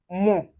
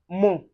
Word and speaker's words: mon: And when you see o n, you pronounce it as on. And for instance, you can see it in mon. mon which means my.